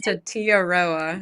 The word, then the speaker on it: Tetiaroa: Phil Bauer has Tetaroa. I'm mispronouncing her. I think it's Tetiaroa.